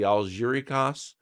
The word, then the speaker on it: Algeciras: This crisis gets settled at the I think it's pronounced the Algeciras conference, which is a port